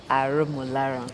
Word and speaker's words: Arumuloran: So I'm going to try that exam again. Arumuloran. Yes. Okay, yes. Yeah, you pronounce very well.